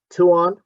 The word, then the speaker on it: Tuan: a function of time tuan what's the acceleration as a function of time here i keep pronoun mispronouncing your name it's it's two on yes two on okay um you take